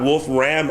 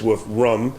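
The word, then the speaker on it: Wolfram: this better than anyone it's not Wolf Ram Alpha so if you try to ask Siri that it won't understand you it's wolf rum it's a German word rum Alpha so properly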